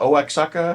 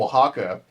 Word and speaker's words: Oaxaca: Oaxaca?